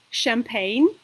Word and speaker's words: champagne: for example chemistry chemistry and if CH combination is pronounced sure so it means that these are French origin words like for example champagne or for example chandelier which is Ja or the Famous Brand Chanel okay so these are